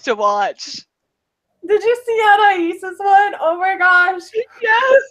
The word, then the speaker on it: Anais: So 2 days ago, I was sitting here, completely down in the dumps, and I saw a post by Anais. That's how you pronounce it, right?